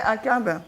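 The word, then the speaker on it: עקב: The Hebrew pronunciation. Ah ouais, Akab.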